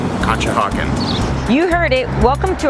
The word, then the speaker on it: Conshohocken: may but the bigger question is can you spell it c o n s h o h o c k n kcha hawen you heard it Welcome to our eye on